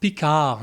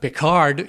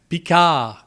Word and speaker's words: Picard: the way it's pronounced pika not picard you don't pronounce the d at the end it's a french word you pronounce it in french pika and why do you